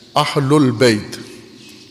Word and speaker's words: اہل البیت: عربی ہے، عموماً ہم عربی پنجابی میں تلفظ کرتے ہیں اہل بیت۔ اہل البیت زبر ہے اس کے اوپر۔ بیت، قرآن کریم نے